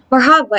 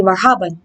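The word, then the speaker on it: مرحبا: the different emirati expressions marhaba is one of the most popular equivalents of hello in arabic the correct pronunciation would be marhaban but some people opt to leave out the n assalamu alaikum which translates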